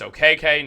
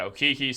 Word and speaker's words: Okeke: I'm now also learning it's okk not oiki so I'm going to